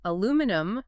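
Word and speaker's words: aluminium: The student pronounced aluminum chloride as aluminum, the British way, with 5 syllables. Youngerly went on a tirade because the American pronunciation aluminum only has 4 syllables.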